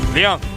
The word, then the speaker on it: Ryung: Hardest name to say. Ryung. Try saying it at home. Do a little trick with your tongue. Say Ryung.